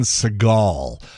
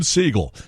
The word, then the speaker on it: Seagal: So, I was doing an interview with Steven Seagal once, and this is when he first came out. You know, this people were still mispronouncing his name. Steven Seagull. Now, it's Seagal.